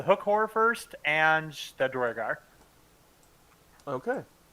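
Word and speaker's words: Duergar: It's kind of like a Spanish pronunciation, because that's how the UE is. Dwargar.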